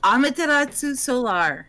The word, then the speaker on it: Amaterasu Solar: sorry i can't pronounce it you want to pronounce your name again amaterasu solar a-m-a-t-e-r-a-s-u s-o-l-a-r alrighty and then i will have